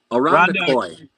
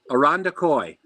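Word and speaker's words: Irondequoit: Rhonda quote. Rhonda quote. Arondakoi. Arondakoi. Rhonda Coy. Oh, okay. The T is silent.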